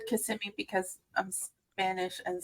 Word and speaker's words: Kissimmee: you know what I'm saying I've always said Kissimmee because I'm I'm Spanish and so I thought that's how it was pronounced but I'm glad I know I was